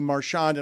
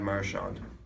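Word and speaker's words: Marchand: He puts the emphasis on the first syllable. Yeah. Let's listen again. Brad Marshand. Marsh. Marshand. Marshand. So, everyone's saying it wrong. That can't be right. Yes. None of us. He's wrong. He's the only one saying it right.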